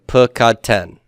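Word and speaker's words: פְּקַדְתֶּן: And the accent on the tem and ten. So everybody, let's say these. Pukadtem and pukadten.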